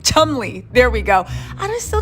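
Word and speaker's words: Cholmondeley: the martinis of tum chumy Chumley Chumley right Chumley there we go I still don't understand why British people use a bunch of syllables and vows just okay anyway let's move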